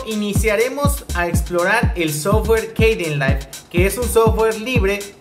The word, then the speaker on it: Kdenlive: Es muy sencillo, nada más ponen ahí descargar Cadenlive, se escribe con una K al principio.